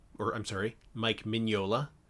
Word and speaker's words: Mignola: series with uh art by the legendary mike mignola or i'm sorry mike mignola it's going to take me a while to